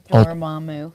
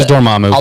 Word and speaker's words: Dormammu: Yours is Dormammu. Is that how you say it? Yeah, Master Dormammu.